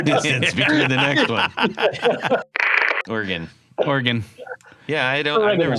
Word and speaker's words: Oregon: Oregon. Yeah, I've never said Oregon. I've always said Oregon.